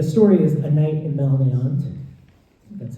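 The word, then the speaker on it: Malnéant: Um, but the the story is A Night in Melant. That's how you pronounce it.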